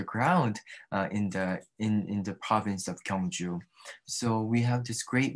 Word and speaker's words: Gyeongju: It's the Gyeongju National Museum, isn't it? Do I pronounce it correctly? Uh-huh. Yes, very good. Yes, Gyeongju is a very historical city for Korea.